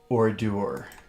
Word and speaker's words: ordure: And it seems to be a French word. That's why I'm pronouncing it ordure.